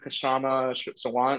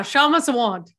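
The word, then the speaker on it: Kshama Sawant: And so learning more about, and then I heard of Kashama Sawant, or how do you pronounce her name? Yeah, Shama Sawant. Shama Sawant.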